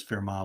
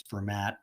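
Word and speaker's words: Fermat: extrema by the way the reason I'm saying I'm pronouncing it that way is because fair ma was French you often hear some people write that say this is format but almost everybody in math department will say fair ma so firm I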